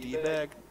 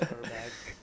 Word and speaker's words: Herbag: pronounced your name wrong supposed to be dag no it's herbag it's it's herbag everyone say hi herbag